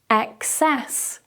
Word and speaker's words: excess: But with our second word, even though we change the first vowel to an E, like in Emma, the stress moves to the second syllable. Excess. Excess.